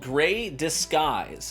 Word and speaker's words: Grey Disguise: But they recently did a special release called Grey Disguise, D-I-S-G-U-I-S-E, right, Disguise. But the idea was that phonetically it would sound similar to Grey Skies, which was their previous